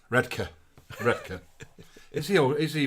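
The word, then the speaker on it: Redcar: is here from he's in redar which is pronounced redka redka is he is he rehearsing panto redka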